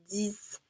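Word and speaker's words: dix: nasalized so it's ah the x the s aren't pronounced so we have de trois dis notice the t isn't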